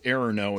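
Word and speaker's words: errno: low level functions all set this thing called error no it's spelled like this okay e-r-r-n-o and this little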